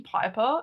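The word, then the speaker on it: Pyper: Also, I don't think I told you guys my name Piper is spelled P Y P E R as in Piper.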